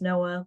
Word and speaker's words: Noea: My name is spelled kind of funny, but it's pronounced Noah, like the art.